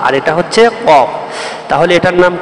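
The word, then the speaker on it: قاف: দাত প্রথমে লেগেছে কিন্তু কফ উচ্চারণে আলিফের মত আলিফ যেমন লাস্টে দুই দাত লাগছে ঠিক তেমনি ক লাস্টে কিন্তু উপরের দুই দাত নিচের ঠোটের মাঝখানে লাগবে সানে আউলিয়ার দুই দাত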